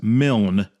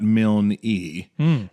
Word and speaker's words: Milne: He says, first, the author of Winnie the Pooh is A.A. Milne, pronounced as Milne, not Milne-E.